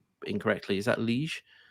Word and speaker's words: Liège: I'm going to pronounce this name incorrectly. Is that Liège? Liège, yeah.